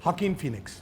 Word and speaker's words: Joaquin Phoenix: How do you pronounce his name? Joaquin Phoenix.